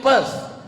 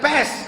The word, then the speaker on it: Perth: I am going to Perth. Bukan pes, kalau pes penyakit. Perth.